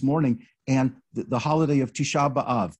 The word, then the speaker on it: Tisha B'Av: and the holiday of tisha b'av tish above in ashkenazi pronunciation it's listed as uh